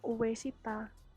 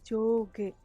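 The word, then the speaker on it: 上下: Bacanya bukan uesita, tapi joge, artinya atas bawah.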